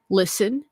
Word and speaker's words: LSTN: So one that I feel is not super commonly known is this brand called Listen, and it's spelled LSTN, and Listen Sound Co.